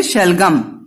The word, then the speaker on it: शलगम: तो शलजम देखो क्या है, टर्निप आपके है ना, इंग्लिश में टर्निप बोलते हो, हिंदी में शलजम या फिर शलगम। ग और ज दोनों ही उच्चारण किया जाता है, दोनों ही सही है, ठीक है बच्चों।